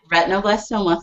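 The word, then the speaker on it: retinoblastoma: familiar to me did I say it right retino blastoma is that what it is yep retino blastoma very good it took me it took me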